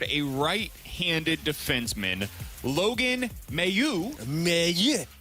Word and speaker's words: Mailloux: Mayu is how you pronounce his last name.